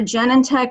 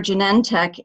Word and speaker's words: Genentech: the company name apparently it depends on if you put the emphasis on genetic or engineering if it's Genentech or Genentech um so either is